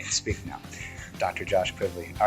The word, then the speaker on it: Kvavle: do I can't even speak now Dr Josh quivy all right thank you again thanks all right